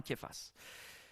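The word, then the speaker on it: Kephas: par un une lettre qui devrait se prononcer K en fait, mais par les aléasodes, l'évolution de la langue. On l' remplacé par un C, mais c'est c'est vraiment quifface.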